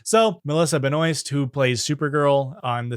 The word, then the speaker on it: Benoist: On Glee, he dates and married fellow Glee actress Melissa Benoist, which actually she pronounced Melissa Benoist because she doesn't want to pronounce it French. So Melissa Benoist, who plays Supergirl on the CW.